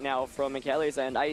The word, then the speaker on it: Michele: It is actually pronounced Michele, so my apologies for that one, as Lunala is going to take the field right now for Naoto.